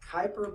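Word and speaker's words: Kuiper: now inside that and I've heard this pronounced a couple of different ways I think it's called the Kyper belt but I've heard it called the queer belt okay depending on what country I think it is okay let's call it Kyper it's a little easier to pronounce a Kyper Bell who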